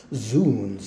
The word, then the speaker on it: zounds: I've heard it also I heard Sir Patrick Stewart pronouncing it as zoons I think it's originally